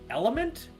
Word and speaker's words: LMNT: first one is that it's supposed to be pronounced element like the word element without vowels uh and the second